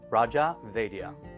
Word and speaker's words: Raja Vaidya: your full name certainly is it's just a raja vedia vedia beautiful i gotta get that everybody knows